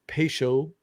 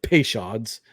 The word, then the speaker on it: Peychaud: 4 dashes of Peychaud, or as Les Americans say, Peychauds.